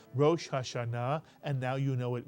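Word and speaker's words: ראש השנה: mitan and of course in English we tend to say Rashana but actually in Hebrew it is Rashana and now you know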